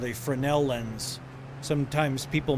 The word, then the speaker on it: Fresnel: It's called a Frenel lens. Sometimes people mispronounce them as Fresnel or Fresnel.